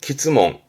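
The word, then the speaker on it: 詰問: 발음은 키즈몽.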